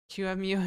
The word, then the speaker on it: QEMU: QEMU is the correct pronunciation.